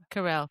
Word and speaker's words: Carell: Carell.